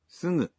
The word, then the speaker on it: すぐ: voiced g, like, がぎぐげご but for other syllables such as, すぐ you pronounce the g sound as a nasal.